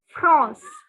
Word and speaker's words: France: Only the pronunciation is France. France. The N has a nasal sound.